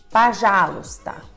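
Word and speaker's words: пожалуйста: luta por já luta só que você procura e descobre que sílaba tônica é a sílaba já que acontece com o primeiro homem você já sabe se torna a pajalusta tá já tá pronto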